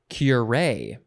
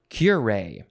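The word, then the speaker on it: curé: sound effect will be next is curay or curay you can emphasize either syllable i think i will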